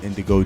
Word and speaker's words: Gndigo: yourself please oh um Indigo and uh the g is silent I'm from a little